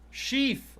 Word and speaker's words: sheaf: Sheaf! Oh yeah, sheaf. I read it properly. I definitely pronounced the word right. I don't know what the fuck a sheaf is. Not a sheath. Sheaf. It was S-H-E-A-F.